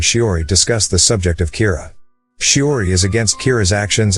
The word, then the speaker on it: Kira: person behind this and calls him Kira which is the Japanese pronunciation of the word killer some people are in